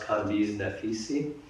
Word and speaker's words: Kambiz Naficy: My name is pronounced Kambiz Naficy.